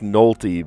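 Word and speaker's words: Nolte: Actor Nick Noly, but it's spelled N O L T E.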